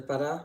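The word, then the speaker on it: Pará: So primary commercial source, the Bada rubber tree, or the Bada rubber tree, accent on the last A, from the Hevea brasiliensis, belongs to the Euphorbiaceae spurge family.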